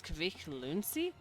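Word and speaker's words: Kvikk Lunsj: Uh, in Norway, our chocolate of choice for adventuring is Kavik Luni. Uh, pronounced basically the same as quick lunch.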